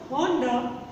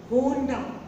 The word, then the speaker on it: Honda: And the next is, yes, most of the people make this mistake also and they say Honda. It is not Honda, it is Honda.